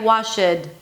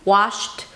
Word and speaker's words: washed: So sometimes non-native speakers try to simplify it and then add the schwa sound, right? Washed, or an e sound. Washed. So the D actually comes out. Don't worry, the D shouldn't come out if it's impossible to pronounce it, right?